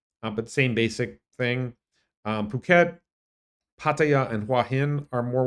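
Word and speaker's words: Phuket: can pronounce it a different way but it's pronounced puket puket is um a beach destination which is I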